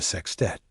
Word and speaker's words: sextet: Club would become a sextet, a word Richie liked a lot, always with the emphasis on the first syllable.